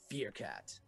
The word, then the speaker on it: Fearcat: Give it up for Fearcat. It actually rhymes with Meerkat, which is what Timon is from The Lion King.